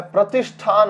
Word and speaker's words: प्रतिष्ठान: जैसे प्रति प्लस स्थान, प्रति प्लस स्थान, प्रति प्लस स्थान, और इसका उच्चारण क्या होता है? प्रतिष्ठान होता है।